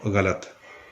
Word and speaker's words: غلط: کہلاتا ہے۔ جیسے لفظ غلط کے اندر غین اور لام دو حرف متحرک ہیں، اور پہلا جو غین